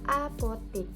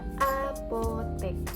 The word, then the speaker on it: apotek: Nah, yang ketiga ada kata apotik, seharusnya diucapkan dan dituliskannya dengan kata apotek karena orang yang melakukannya adalah apoteker, bukan apoteker.